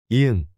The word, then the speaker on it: 이응: 이응. Ang. This is a silent consonant at the beginning of a syllable but pronounced like ang in song at the end of a syllable.